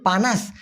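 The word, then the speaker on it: panas: হচ্ছে উষ্ণ যদিও পানাস পি এন এস প আকার ন আকার স লেখ আরো উচ্চারণ করুন পানাস এই পানাস মানে হচ্ছে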